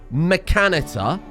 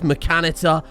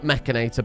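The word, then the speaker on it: Mechanitor: it makes me feel good I know it's pronounced mechanitter okay it clearly says mechanitter I'm always going to call it machinator because it sounds better to my ears let's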